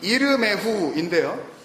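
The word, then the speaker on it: ירמיהו: 예레미야 히브리어 원래 발음이 이르메후인데요.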